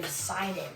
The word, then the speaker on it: Poseidon: Poseidon, that's how you say it.